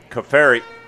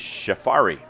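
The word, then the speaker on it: Cioffari: right six minutes ago it doesn't look like safari but that's uh it's cio f-f-a-r-i but it is safari it's an irish name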